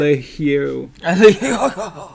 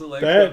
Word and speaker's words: Allegro: Alegiero. Wait, what? Alegiero. Allegro? That's what I said. I pronounced it more French than you did, clearly. That's not how it's pronounced. It's Allegro.